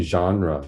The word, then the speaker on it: genre: I think it's it's not a normal English word. It comes from the French origin.